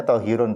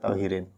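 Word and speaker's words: طاهرٌ: Maka bacanya tohirun, tidak tohirin. Nggak bisa dibaca tohirin, harus tohirun.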